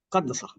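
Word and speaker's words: قدّس: Y me doy cuenta que hay un verbo que se escribe igual a Quds, pero se pronuncia Qaddasa. Qaddasa se escribe igual que Quds.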